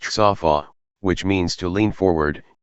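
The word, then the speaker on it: צָפָה: for watchman is the 3 consenant word DTV, pronounced tsaw-faw', which means to lean forward, yay to peer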